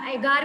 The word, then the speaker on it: agar: Gillidium and Gracilaria एगार, ये एगार बोल रहे हैं, मैं इसे अगर अगर बोल रही हूँ, तो कोई प्रॉब्लम नहीं है, एगार भी बोल सकते हैं या अगर अगर भी बोल सकते हैं। इसकी स्पेलिंग होती है AGAR, ठीक है। तो कैसे भी आप इसका प्रोनाउंसिएशन चेक करना है तो चेक कर सकते हो, अगर अगर या एगार, जो भी आपको बोलना है।